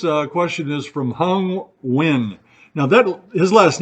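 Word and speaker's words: Nguyen: question is from hung win now that his last name is ngg ye n and as teachers I had a couple of families with that name and they pronounce it wi which I could never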